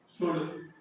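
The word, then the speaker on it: should: Good, good example देखते हो ना, गुड आगे पढ़ेंगे, गुड, कुड, शुड, ये सब चीजें ऐसी को रहा है। अगला देख लेते हैं, एम साइलेंट हो रहता है, एम के कुछ नियम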